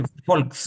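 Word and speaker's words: Volk: जैसे फोल्क्स, अच्छा हाँ जैसे ये है, फोल्क्स, फोल्क, फोल्क का मतलब होता है पीपल।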